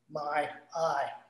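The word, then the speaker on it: maai: very important and that's called my which sounds like my eye though it's spelled a bit differently my eye basically is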